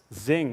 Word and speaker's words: Xing: So then we went to Germany and talked to Xing, or Crossing, or Xing, or however you're supposed to pronounce it. Zing with a Z. Yeah, it's an X.